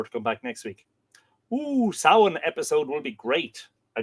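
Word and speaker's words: Samhain: Sin.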